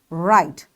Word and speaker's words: write: So we will start our word from here and we will say write though we write with W but we say with R.